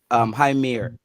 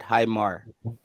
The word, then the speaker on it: Heimir: that Heimir, because guys, his name is not Heimir, it's Heimir. There's no, because the I in Icelandic and Swedish is pronounced as ear, so it can't be Heimir, it should be Heimir, something like that.